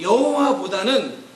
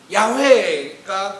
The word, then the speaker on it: 야훼: 그런데 나중에 학자들이 이 발음이 여호와보다는 야훼가 좀 더 가깝다라고 이야기를 합니다.